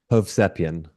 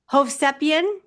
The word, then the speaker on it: Hovsepian: Hovian. Hovian.